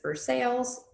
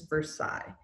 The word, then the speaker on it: Versailles: building of versa so please do not pronounce this verses in French this is Versailles now some of you guys may have been to Versailles um it is a